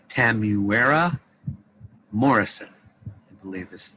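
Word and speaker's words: Temuera Morrison: actor name uh oh i say this right tamuera morrison i believe is how it's pronounced and yes that's that's uh that's he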